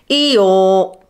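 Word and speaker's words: Eeyore: he's a donkey and he's called eore because his name sounds like the sound a donkey makes eore so if you can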